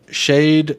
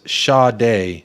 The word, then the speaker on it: Sade: Shade is Sade. Sade. Hey, Sade. Let me see that. Almost the A sound at the end of the last.